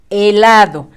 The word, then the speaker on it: helado: El siguiente dibujito es un helado. La sílaba E con la mudita va con rojo, acuérdate.